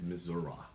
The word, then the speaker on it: Missouri: know our oh like folks in actually Missouri will tell will say is Missour so you know if you talk about Kansas City Missour don't be mistaken they're not pronouncing it wrong they just don't think